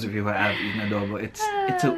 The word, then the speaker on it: Adobo: Yeah, of course I pronounce it adobo like the way we do it in Philippines.